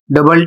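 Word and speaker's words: double: अर्थात ओ और यू साथ में है लेकिन उच्चारण आपको यू का करना है। ओ का नहीं करना है।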